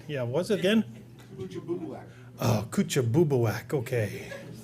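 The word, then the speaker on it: Kouchibouguac: The first one was in New Brunswick, and you can pronounce that. They call it Coochie. Yeah, that's the word. Yeah, what's it again? Oh, Kuchabubuak, okay.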